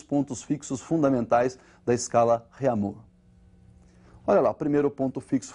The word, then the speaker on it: Réaumur: outra escala francesa aí, que é a escala Réaumur, que nós vamos pronunciar Réaumur, né, que é aportuguesado de novo, né, e essa escala